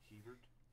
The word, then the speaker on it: Hebert: Kyle Herbert or Kyle Hebert. Yeah, he's the guy who plays Adult Gohan. How would you pronounce that? Hebert.